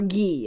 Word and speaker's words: Guy: a parent would use the name guy or ghee in French it's kind of like